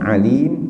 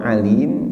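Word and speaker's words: عليم: teman pedih ya ingat ini bacanya bukan Halim tapi Alif jadi mahroj ini memang penting dalam bahasa Arab sound color Alim itu aneh yang maha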